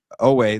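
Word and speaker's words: Oweh: I butchered Odafe Owe.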